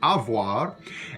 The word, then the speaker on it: avoir: french you it's pronounced avoir and in louisiana french and in old acadian french as well sometimes that v sound gets dropped and becomes something like